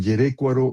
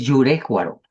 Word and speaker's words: Yurécuaro: cercana al cultivo intensivo de jitomate en Yerécuaro, Michoacán. Brenda Urbano eso. Yerécuaro. No, no, es Yurécuaro.